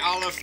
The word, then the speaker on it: Aleph: olive listen to olive technically how your name should be pronounced and spelt why aleph do you not like